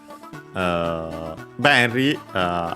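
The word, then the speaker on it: 便利: Benry, accent on the first mora.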